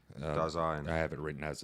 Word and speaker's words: Dasein: I have it written as Dasein. Dasein. I have it written as it's pronounced.